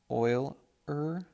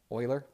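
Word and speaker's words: Euler: mathematician so this is Oiler number Oiler is spelled e u l e r and it's pronounced Oiler so Oiler we def he defined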